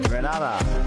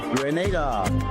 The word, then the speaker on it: Grenada: So today, like we Germans say, we are in Grenada. But I heard in English it's called Grenada. Say it right.